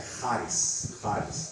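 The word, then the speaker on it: χάρις: Aquele CH, não se engane, não é charis ou charis, é charis, ok? E é culpa dos gregos, não, dos alemães, né? Que eles colocaram esse CH, para eles pronunciam CH daquele jeito, né? Burr. Mas o português não pronuncia do mesmo jeito, então às vezes a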